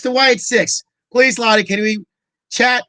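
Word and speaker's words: Wyatt Sicks: It's the Wyatt 6.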